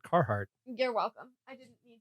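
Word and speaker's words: Carhartt: for us so I'm proud of you for pronouncing it carart you're welcome I didn't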